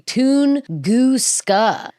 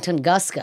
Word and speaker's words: Tunguska: So, it's actually Tunusa. I was saying Tungusa, I think, cuz it's spelled like it would be pronounced Tungusa, but it's not.